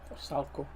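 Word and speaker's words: Vrsaljko: For Salco. That's how to pronounce it, mate.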